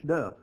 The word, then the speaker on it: Dub: Well, here in the South, we don't pronounce the word W with a L. We just say W. And a lot of people drop that U and it's Dub.